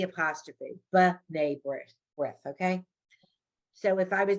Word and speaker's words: B'nai B'rith: Because when it begins a syllable, it's always like an it, like almost like an apostrophe. So if I was saying to you the word B'nai B'rith, it's a, the organization